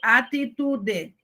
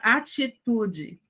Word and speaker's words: atitude: Na escrita fica T, é o T, mas falando é ch. Então, nós temos atitude, veja que aquele ch tem o I. Então, eu não digo atitude, eu digo atitude.